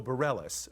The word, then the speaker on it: Bareilles: say her name right sarah beret bareilles oh bareilles okay see that's my french misleading that's all right it